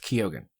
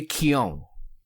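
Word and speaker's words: Keoghan: day so apparently his last name is not pronounced Keogan or Keegan it turns out despite how it's spelled and this is the Irish and this is how Matt Reeves pronounced it it's very Keon um yeah he's the Joker and uh we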